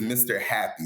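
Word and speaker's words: Mr. Jappi: On IG, Instagram, for those who do not know, it is Mr. Happy. So it's spelled funny. It's spelled with a Spanish J.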